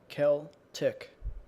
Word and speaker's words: Celtic: how to pronounce Celtic the woman in the YouTube video said Celtic Kel up Celtic wait a minute hold on what's this guy saying let him say it again Celtic Kel tick Celtic it's Celtic Celtic